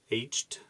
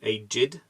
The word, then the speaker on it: aged: for meanings ok agit aged hatred okay cool so there are two different pronunciations that is freaky so pronounced aged for meaning one and eight did for meaning two and three so it's a meaning